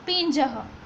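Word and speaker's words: पिञ्जः: Switch दिखाई दे रही है, इसका प्रोनाउंसिएशन खास ध्यान रखना पड़ेगा, क्योंकि बीच में जो सिंबल है उसको पी के ऊपर डॉट समझना है, यानी कि पिंजह। इसको ज कहेंगे तो पिंजह।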